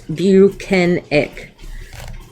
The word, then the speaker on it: Bukhenik: says no you're not he corrects Jackson on the pronunciation of his name he says it's buenik so I do have